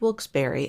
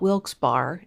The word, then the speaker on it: Wilkes-Barre: to buy a house in Wilkes-Barre, which is pronounced Wilkes-Barre and not Wilkes-Barre, FYI.